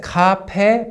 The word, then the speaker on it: 카페: It's written as 카페, but people always pronounce it as 카페 for some reason.